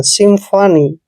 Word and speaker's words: symphony: दोस्तों एस का उच्चारण हमने श लिखना है, वाई को यहाँ पे ई की मात्रा पढ़ना है, एम को आधा मैं पढ़ेंगे और PH का उच्चारण हमने फ करना है। और देखिए ओ को ओ पढ़ना है ऐसे। एन का उच्चारण हमने न करना है, वाई को ई की मात्रा पढ़ना है।